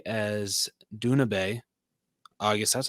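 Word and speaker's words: Doona Bae: Dune Bay as Duna Bay.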